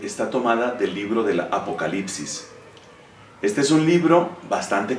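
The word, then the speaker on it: ἀποκάλυψις: Viene del griego, lengua en la cual se pronuncia apocalipsis, y esto significa revelación, una revelación.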